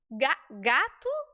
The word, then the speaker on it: gato: óleo Olo óleo percebe mas a letra O ela também pode ser u no português quando por exemplo ela aparece no final das palavras como é que é o nome daquele felino doméstico que algumas pessoas TM em casa gato gato mas por que gato se a gente escreve com o é porque o o